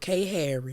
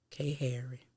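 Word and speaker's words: Khairi: that's what i'm saying my baby name is spelled k harry look like that with the kh but it ain't know why the end it's k h a i r i k harry that's my baby and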